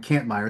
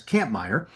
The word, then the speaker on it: Kampmeyer: I was calling him Kampmeyer. It's Kampmeyer.